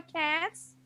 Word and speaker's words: cats: Akhirannya apa cats? If you said cats with s, then you are correct.